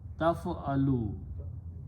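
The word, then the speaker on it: تَفْعَلُ: If I put a ta in the beginning and pronounce as taf'alu, this means you, ta points you, and it can be a present tense or a future tense.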